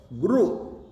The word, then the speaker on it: गुरु: अगला शब्द है जो गुरु, र के छोटा ऊ है, गुरु, गुरु उच्चारण, ज्यादातर लोग गुरु ऊ बोलते हैं, लिखने में भी ऊ लिख देते हैं, रे को रे के साथ, नहीं।